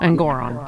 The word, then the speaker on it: Engoron: uh at sorry I I always mispronounce his name it's actually engoron engoron um and Goron but